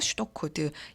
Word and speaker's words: pseudo: 또 다른 말로는 이제 의사코드, 슈도코드, 영어로는 PSEUDO. 여기서 P가 묵음이에요. 그래서 슈도코드 근데 P가 같이 있어야 돼요. 발음만 안 나요.